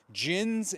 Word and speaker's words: jinn: Although the jinn is spelled D-J-I-N-N, which is where we get the pronunciation of the word genie, which is not J, G-E-N-I-E. It's the mispronunciation or the westernization of the term jinn.